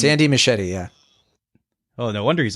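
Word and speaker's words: Muschietti: a working relationship ridiculous Andy musaki is that he pronounced the director's last name or mausi uh machete I I machete okay it's it's Andy machete yeah oh no wonder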